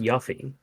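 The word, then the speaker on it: Yuffie: we're locking in on answer B which is yui the ninja and the correct answer is B it is indeed yui the ninja damn I was going to say Rufus you know she was it's actually pronounced yuy oh really I did not know that wow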